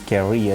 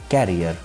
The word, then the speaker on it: career: adjustment and adjacent the next word is career which is often mispronounced by the people carrier career has the meaning